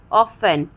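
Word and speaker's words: often: इन दो कंडीशन में T silent होता है। TEN आए लास्ट में और TCH आए तब, जैसे कि लिसन, ऑफन, ठीक है, ग्लिशन, मैच, कैच, बैच।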